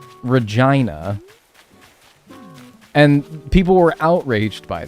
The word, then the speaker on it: Regina: The city that rhymes with fun, Regina.